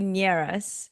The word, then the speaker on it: Nierras: Say your last name because I probably butchered it. No, you're fine. It's actually Nierras, Nierras.